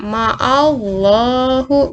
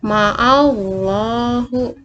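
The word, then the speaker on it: مع الله: Nah, contoh yang pertama ma'allahu, bacanya seperti itu ya, ma'allahu, dijorokkan ke depan ya bacanya.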